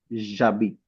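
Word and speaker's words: j'habite: So similarly, because H is also considered as a semi-vowel and it Okay. is also mute, right? It is also silent. Yeah. So we will pronounce this as jabit, Jab.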